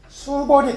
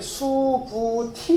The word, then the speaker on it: 수부티: 신 그런 장로 수보리가 수보리 들어보세요 이게 원 발음이 수부티 그든 근데 우리 불경에서 니